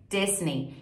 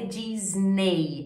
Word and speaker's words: Disney: que é a Disney que inglês é jessiene Disney e fica a dica de outro erro de pronúncia muito comum muitas palavras em inglês terminam com é y e quando isso acontece o som final é i então a gente não